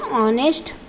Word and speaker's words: honest: He is an honest man. Honest. Again here H is a silent.